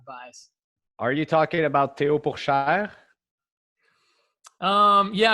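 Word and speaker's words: Théo Pourchaire: about teopoksha um yeah i wish i could say it like that i say theo poor cher which is definitely not as not as a french or correct as i would like oh there's all there's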